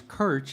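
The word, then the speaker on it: Krč: you don't know me, it's Kirch. It's just spelled with 3 consonant letters, KRC.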